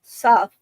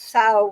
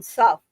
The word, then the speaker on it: sow: Those not familiar with the word familiarized it with plow, mispronounced it as sow rather than suff, and the name stuck.